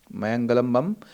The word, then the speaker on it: मयंगलम बम: इसका उच्चारण थोड़ा सा अलग सा लग रहा है। इसको मयंगल बम कहिए। मयंगल बम मयंगल बम मयंगलम बम ऋषिकांत सिंह ये पूरा